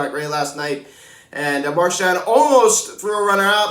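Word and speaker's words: Marchán: season mine i had i kept calling him raphael marcan and it's actually raphael marshawn and i apologize for that if rafael happens to be watching this video i mispronounced his name um and i kept on marcan it's marchand so my apologies uh for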